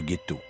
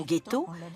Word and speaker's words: ghetto: depuis le Moyen-ge et qui en vétien se prononçaitetto car on y jetait lescorie de cuivre la prononciation ghetto date de l'arrivée des Juifs d'Allemagne c'està-dire qu'elle est postérieure à la création du gethetto ce sont les Allemands qui ont transformer le j en gu aujourd'hui la notion de